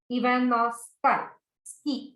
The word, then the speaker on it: Ivanovsky: IVANOWSKY. Ivanovsky. So sky's ski.